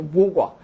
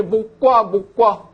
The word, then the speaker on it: 모과: 잘라가지고 차로도 마시고 한 그 모과. 그것도 한자로는 원래 나무 목자에다가 오이과자 써가지고 이게 원래 목과거든요. 목과. 근데 목과 발음이 좀 이것도 어렵죠. 이거 이제 모과라고 읽기 시작하면서 이 소금이 일반화가 돼버린 경우죠.